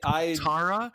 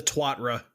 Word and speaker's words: Tuatara: I don't know how to pronounce the name of the vehicle. Is it? No one does. Is it Tuatara or Tuatara? It's the Twatra.